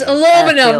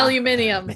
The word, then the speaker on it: aluminum: It's aluminum, not aluminium. Welcome back to Pedant's Corner.